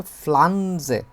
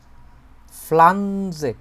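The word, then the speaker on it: Pflanze: আমরা এগুলোরে বলে হচ্ছে ফ্লাঞজে ফ্লান্জে উচ্চারণ করেন তোফলাজে ফ্লাঞজে এটাই হতেছে ইংরেজিতে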